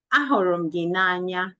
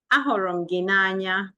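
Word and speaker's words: A hụrụ gị n'anya: Ahụrụ gị n'anya. Say after me. Ahụrụ gị n'anya. Say after me. Ahụrụ gị n'anya.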